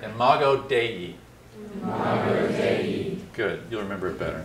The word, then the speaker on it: imago Dei: God in some sense in mago day which is the Latin for image of God already say it because we're not very good at pronouncing it imago Dei good you'll remember it